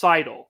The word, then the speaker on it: Seidel: for the record one her name is pronounced seidl that is how you say her last name just to make sure